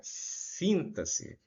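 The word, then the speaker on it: sintaxe: sobre esse assunto aí sobre a síntase é assim que se pronuncia essa palavra aí o X tem som de dois s Então nós vamos chamar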